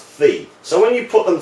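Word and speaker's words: phi: Greek letter fee and this is the Greek letter theta so it's pronounced fee so when you put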